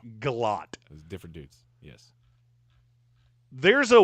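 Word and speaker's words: Gillotte: I thought it was Guiote for the longest time, but apparently he is not related to Don Kiote. It's Galot.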